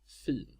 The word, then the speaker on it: fint: Fint. This is pronounced with a long I and two consonants. This is because the basic form of this word is fin, with a long vowel and a single consonant.